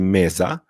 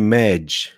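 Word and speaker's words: मेज़: było przywieźli je Portugalczycy Czyli mamy słowo portugalskie Meza w hindi skróciło się do mez ale część ludzi mówi Med usłyszycie też ten wariant No po prostu tak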